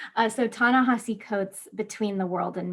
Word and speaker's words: Ta-Nehisi: world and me by tanejisi coates um sorry i mispronounced it it's tana hassi i keep getting that wrong uh so tanahasi codes between the world